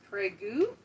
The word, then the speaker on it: Prague: tom leblanc says pronounced prague because one of the founding ladies from czechoslovakia wanted it spelled the same but pronounced differently oh did i part